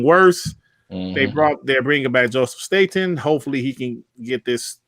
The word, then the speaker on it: Staten: So he went back to Joseph, like he pronounced his name, Joseph Staten.